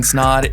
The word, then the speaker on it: Snaadt: what's going on guys my name is snod it rhes with odd and you're listening and watching the rhymes with odd podcast today we have another guest